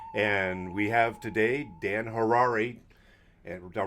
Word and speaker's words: Harary: we have today Dan Harare and hotel rhymes with Ferrari thankfully texted me and